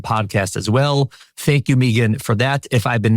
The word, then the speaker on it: Meaghan: That a in there makes it Meagan.